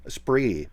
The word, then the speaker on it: Esprit: How do you say this? Help me out. It's a Spree. Esprit, but it's spelled E-Spirit, right?